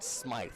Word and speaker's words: Smythe: and it's 0-1 on smite spelt with the y-s-m-y-t-h batting just under the